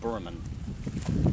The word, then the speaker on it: Boorhaman: That's how you pronounce it. Boorhaman.